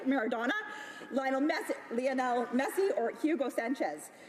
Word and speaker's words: Maradona: in the world, including Diego Maradona, but I'm sure I've said that wrong, but I say it correctly, Maradona, Lionel Messi, or Hugo Sanchez.